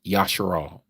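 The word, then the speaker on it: ישראל: only, and that is Yasharal. That is Israel, as you may know it in the translation of how you pronounce it. Yasharal is the original.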